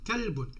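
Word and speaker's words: كَلْبٌ: Donc et on prononce le ne à la fin pour exprimer le tanwin au niveau de la prononciation. Kalbun.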